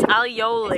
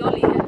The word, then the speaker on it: aioli: We say it wrong. It's aioli. It's aioli. Yeah. Yeah. Yeah, but in England we just say aioli.